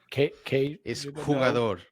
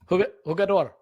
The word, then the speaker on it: jugador: Kugador, huh? Hugador Hugador because in in Brazilian they say the sound but in Spanish they don't.